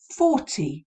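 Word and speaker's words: forty: as a pointer here 14 14 where's the stress it's on the teen isn't it whereas that can be very easily confused with the pronunciation of 40 40 four zero where the stress is on the first part so i think that's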